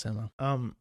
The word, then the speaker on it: Samoa: see if these banks, Samoa is how you pronounce Samoa. That's how they pronounce it. It's pronounced Samoa.